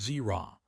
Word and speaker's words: Zer: I go by Zer, pronounced Zerra.